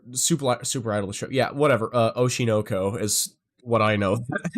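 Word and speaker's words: Oshi no Ko: Oshinoko is how it's pronounced, but official trailer.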